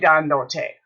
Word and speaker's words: dándote: Because it's got to have an accent on the third syllable back. Ooh, hello, Senora Daly. Okay. Yo estoy dándote.